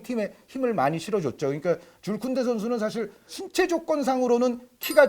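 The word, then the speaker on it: Jules Koundé: 요 이제 쿤데 선수가 저도 예전에는 이제 줄스 쿤데라고 발음을 많이 했고 또 요즘 어떤 데 보면 쥐일스 쿤데라고도 나와요. 네. 근데 가장 정확한 발음은 줄 쿤데인 것 같습니다.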